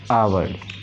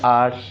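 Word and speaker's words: hour: Next, you will go इन डॉट डॉट डॉट डॉट आवर, इसे आवर या आर दोनों तरीके से प्रोनाउंस किया जाता है।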